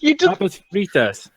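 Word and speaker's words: papas fritas: it wait say Marcus Pap fritas that's how you say french fries there you go thank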